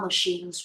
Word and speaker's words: machine: The child held the erroneous belief that time machines were real. The child held the erroneous belief that the time machines were real. Machines. Machine. Machine. No, it's CH, not cha. Sha.